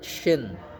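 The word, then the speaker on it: شين: Nah, kemudian huruf selanjutnya adalah huruf syin. Nah, dia pakai Y S Y. Jadi sya syi su ya. Jadi pakai Y sya syi suu.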